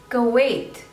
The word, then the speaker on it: Kuwait: Kenya Kenya next is Kuwait Kuwait two labels cup and weight so stress is on the seconds label Kuwait Kuwait Kuwait go